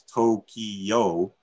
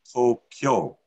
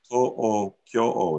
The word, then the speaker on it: Tokyo: The word Tokyo, that we might say is Tokyo, sounds like three syllables, is actually pronounced as Tokyo, which may sound like two, but it actually counts as four sounds. To-o-kyo-o is what they're counting.